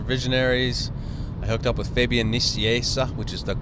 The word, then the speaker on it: Fabian Nicieza: then so after visionary's I hooked up with Fabian Nicieza which is the correct pronunciation is that name and we did new